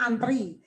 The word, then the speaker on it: antre: Antre kan bacanya antri.